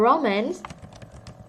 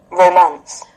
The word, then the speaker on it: romance: Okay, the way you say it is romance. Romance. Romance. Romance. Romance. So both way, romance or romance are fine.